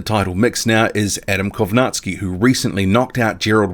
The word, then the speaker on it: Kownacki: keep leaving repeated comments saying say his last name caki his name is not caki that is a mispronunciation well and truly please don't leave those comments his name is Adam kovatsi number six Joseph Parker